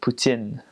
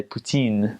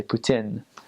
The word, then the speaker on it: poutine: is called poutine and in French you would pronounce it Putin Putin well in France you'd say poutine but in Kovak they say Putin and it's it's it's french fries with cheese